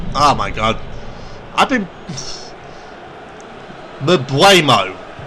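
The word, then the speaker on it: Mbeumo: Mbuemo. I've been pronouncing it Mbloom. What can I say?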